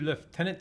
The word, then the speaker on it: lieutenant: do Tennant and now they spell lieutenant leftenant as in the phonetic how they English phonetically say tis a grand service